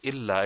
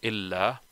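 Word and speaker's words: إلا: But if we use instead of illa, if you say ila, la ilaha illallah, then it would not give the meaning of this but or except in Arabic, because you're not saying illa, you are saying ila, which is not what you want to say.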